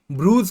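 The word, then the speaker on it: Bruges: शहर में स्थित है ब्रूस कहते हैं spelling C आर यू जी ए एस होता है तो इनका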